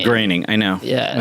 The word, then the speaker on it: Groening: Simpsons guy Matt Groening no one knows how to pronounce this it's the last thing it should be his grain graining I know yeah and